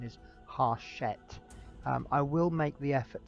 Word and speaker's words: Hachette: thought the publishers were French, and I've been pronouncing the company name Hachette. I have been reliably informed, thank you World of Mike Anderson, that it's actually a South African company and the correct pronunciation is Hachette.